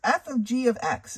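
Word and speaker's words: f∘g(x): So it's f of g of x is how it's pronounced.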